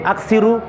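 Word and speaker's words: أكثروا: Ya, kata Rasul gini, aksiru, bacanya gitu, aksiru zikra hadimil ladzat.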